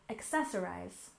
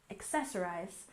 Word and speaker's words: accessorize: next we have accessorize we stress the second syllable accessorize accessorize and this is a verb